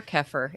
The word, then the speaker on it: kefir: Oh, it says most Americans say kefir or kefir. It's either way. What about the Australians? Kefir. Oh, wait a minute. The correct pronunciation is kefir.